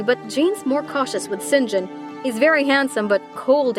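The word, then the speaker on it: St John: version of her life sinjin that's spelled saint john diana and mary rivers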